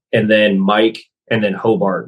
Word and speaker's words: Hobart: then mike and then hobart which is like you spell my last name exactly how phonetically sounds uh h-o-b-a-r-t yeah i'll